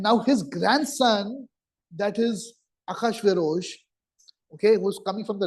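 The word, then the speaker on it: אחשורוש: Achashverosh, it's written as Ahasuerus in the Bible, but it's pronounced as Achashverosh, is the grandson of King Kurush, Cyrus.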